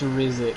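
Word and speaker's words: Riziks: He just sent me pronounced quote-unquote R-I-Z-I-K-S. Yeah, I know it's Rizix, you fuck.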